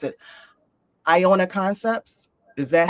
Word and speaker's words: Iona: Iona concepts. Is that how I pronounce? Yes. Iona.